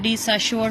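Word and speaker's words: de Saussure: Ferdinand डी सासुअर, इसको डी सासुअर कुछ पढ़ते हैं, डी साशोर पढ़ते हैं कुछ लोग, तो डिफरेंट किस्म की प्रोनाउंसिएशन है। मैं तो इसको डी सासुअर पढ़ती हूँ इसको।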